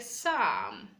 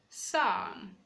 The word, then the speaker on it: Psalm: Letter P is silent in a combination of PS, PT, and PN. We have words like Psalm, Psalm, the book of Psalm.